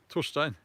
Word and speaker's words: Torstein: How would it be pronounced there? Well, yes, I say Torstein.